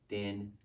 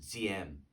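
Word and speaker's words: Diệm: No, Din. Actually, this would be pronounced Ziem, like almost like a hard DZ, Ziem.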